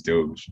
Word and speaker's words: Dogecoin: yeah like and like the way it's supposed to be pronounced i guess is doge but you know it's